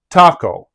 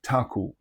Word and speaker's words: Taco: a city is called Taco. But first of all, know that an unaccented letter O at the end of a Portuguese word makes an U sound.